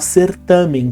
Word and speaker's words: certame: Ele perde na pronúncia o N. Então de abdômen fica abdômen. Assim como a palavra certamen, que até é pouco, quase não é usada.